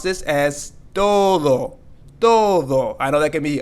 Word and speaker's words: todo: sometimes as Spanish Learners we may want to pronounce this as Toto Toto almost like Toad and then oh but no we're going to pronounce this as Todo I know that can be a little challenging